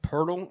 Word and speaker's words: Poeltl: It's actually pronounced Pirtle.